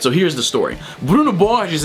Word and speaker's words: Borges: so here's the story Bruno B is and yes that's the actual Brazilian pronunciation of his name was a 24-year-old psychologist